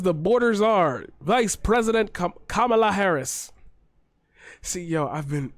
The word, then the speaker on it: Kamala: repeat republicans so much when they mispronounce a name then you start to slip into it yourself i always think in my head it rhymes with monologue west side of the